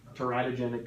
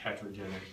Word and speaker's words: teratogenic: harmful to the fetus you could probably say it either way teratogenic is probably maybe a bit more proper how do you spell